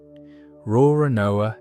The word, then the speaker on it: Roronoa: Roronoa is basically the Japanese way of pronouncing l'Olonnais, which is why they look nothing alike written down, but sound close enough when you say them out loud.